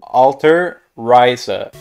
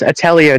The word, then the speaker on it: Atelier: Bro, that's Atelier, dumbass. Wait, how do you say the name of the franchise? Well, Alter Ryza. Alter Ryza? Yeah. I feel like you might be reading. I feel like you're reading it wrong.